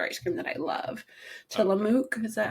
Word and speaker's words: Tillamook: Tillamook, is that how you pronounce it?